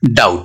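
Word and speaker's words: doubt: जैसे B silent होता है डेट में और डाउट में।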